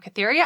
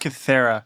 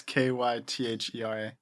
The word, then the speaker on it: Kythera: Joining me is my co-host and brother, hailing from Cytherea Island, DJ. It's pronounced Cythera.